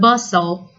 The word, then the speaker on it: bustle: from the hustle and bustle of life Haven not heaven hustle and bustle notice that letter T is silent hustle and bustle moving